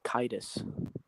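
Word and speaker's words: Caedus: underneath cadis Insidious I I always pronounce it kaidis it probably is kaidis but it's but it's what the k with an a not with an i so I say yeah but the AE is a diphthong so it's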